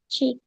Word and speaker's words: cheek: Cheek. Hmm? Pipi. Yes, pipi. Kalau E ada dua, dibacanya apa? I. Jadi ini bacanya cheek.